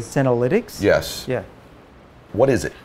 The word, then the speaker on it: senolytics: So I want to make sure I pronounce it right. Senolytics. Am I saying that correctly? Senolytics?